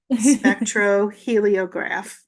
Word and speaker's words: Spectroheliograph: SPE, Mhm, SPEC, the line between C and T. Tro, TRO, long O. He, HE, mhm. line between E and L. Leo, LIO. So it's a double vowel there.